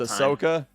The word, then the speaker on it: Ahsoka: wars character oh it's ahsoka yeah oh i thought i thought okay so you don't heavily pronounce the age got it you understand